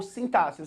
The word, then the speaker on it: sintaxe: é assim tax ou sintaxe você pode pronunciar as duas formas sintaxe ou sintax o sintáxi é organização